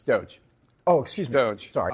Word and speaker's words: Doge: how you pronounce it douche dog oh do it's Doge oh excuse me do